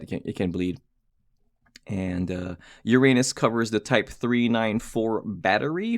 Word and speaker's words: Uranus: case back here is the case back with Uranus uh there is Uranus right there and uh or Uranus somebody told me that it's pronounced urunus um whatever I'll call it Uranus I I